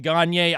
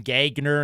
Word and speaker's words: Gagner: teenager, I'd wear that Gier jersey to school. kids used to make fun of me. They'd they'd purposely mispronounce his name and and call him Gagner instead of Gier.